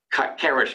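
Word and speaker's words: Kuhn–Tucker: uh the math literature Kish kuner and by the way the proper pronunciation is Kish not kouch not something else it's Kish um dick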